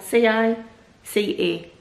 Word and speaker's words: Cica: No, C-I-C-A.